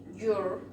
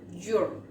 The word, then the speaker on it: your: Tenemos entonces my, again, my, then we have your, como si estuviésemos diciendo yogur pero sin el gur, your, then we have his,